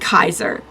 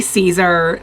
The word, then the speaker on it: Caesar: So, there is a note in the manga that says it's Caesar in the Latin pronunciation. So it sounds more like Kaiser. So it's not exactly Caesar the way that we've heard it, but any mention of